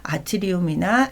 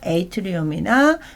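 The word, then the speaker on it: atrium: 말을 해보셔야 되거든요 그래서 우리가 보통 이제 아트리움이라는 그 발음으로 많이 하고요 약간 또 조금 그 a가 a라는 그 발음을 말하는 분들도 있어요 그래서 아트리움이나 에이트리움이나 들으실 때는 아 이거는 심방에 대해서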